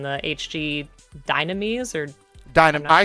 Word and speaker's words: Dynames: the pronunciation the HG dynames or Dynam I say dynames I could be wrong but I say dynames and the yeah I say dynames too okay the Japanese call it dunamis for some reason dunamis